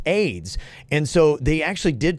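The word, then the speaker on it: Ayds: what came for AIDS the company was a yd s pronounce AIDS and so they actually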